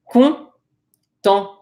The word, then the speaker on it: content: I'll point out this final T, this ENT right here is pronounced on. So content.